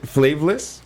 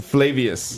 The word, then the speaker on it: Flavius: Uh, fla flavorless. Flavius. Flavius. How do you How would you spell that?